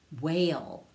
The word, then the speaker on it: whale: the wh words now w h sounds like w like wha and the h is silent echo these words after